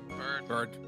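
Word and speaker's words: Byrde: Mr Cuda or Maggie bride's how do you pronounce that again bird bird thank you Maggie Bird's testimony but objection objection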